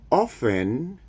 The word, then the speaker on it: often: Bob often studies at night. Okay, so sorry, very important. Often. Do not pronounce the T. It's not necessary to say often. No T. Often.